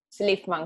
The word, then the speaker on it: Szlifman: Slifman, como si no tuviese Z.